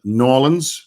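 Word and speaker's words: New Orleans: a journey then uh ended up in norleans because that's how you say it nor I know one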